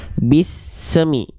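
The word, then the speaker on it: بسم: sering kali terjadi adalah jangan sampai dilafalkan dengan pantulan suara. Jangan sampai memantul. Banyak orang melafalkan huruf sin itu ada pantulan suaranya. Contohnya gini. Bismi, bismi, semi. Jangan ada se-nya. Ya, tapi dibaca cukup bismi.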